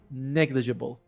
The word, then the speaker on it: negligible: Although to be fair with you, 15% is negligible. Is that how it's pronounced negligible or or negligible? Negligible. Okay. J. Yeah. Makes a J sound.